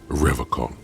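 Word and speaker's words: Revachol: rev call he pronounces revercon with a hard k unlike other people i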